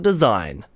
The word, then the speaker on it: design: Let's talk about design. A word that has a silent G in it for absolutely no reason.